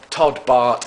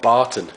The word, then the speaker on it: Bart: And also, I just want to say, I also got another guy's name wrong, Todd Bart. I've been calling him Todd Barton, and he's not.